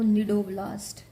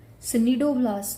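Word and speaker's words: cnidoblast: अब निडरिया है ऑन the basis of the sales sting sales जिनको निडो ब्लास्ट C silent here सडोब्लास्ट नहीं बोलना आपने निडो ब्लास्ट्स बोलना है ये स्टिंग सेल्स होते हैं।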